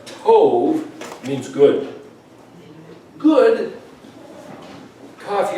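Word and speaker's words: טוב: with endearment, then if I see this word pronounced tov, it means good.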